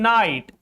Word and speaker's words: night: In night, in high, in daughter, in high, GH is just after I. In daughter, GH is just after U. All these are vowels. That's why GH is silent in these words.